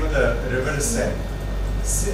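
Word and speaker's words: Seine: The name of the river is Sen S E I N E pronounce S.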